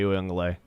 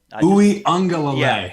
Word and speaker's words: Uiagalelei: I just never understood the love for DJ Uiagalelei. Well, I never understood it. First of all, he's got. To me, it's like trying to say his name is like trying to order coffee at Starbucks. So Uiagalelei.